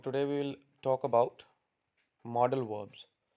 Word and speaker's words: modal: it is is uh they do modal verb modal so that is a wrong pronunciation but how do we pronunciate it we pronunciate it as model was model how our